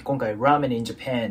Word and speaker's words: Japan: 音のボイになるんでジャパン JAPAN こんな感じになりますなのでもう一度通して発音してみると When was the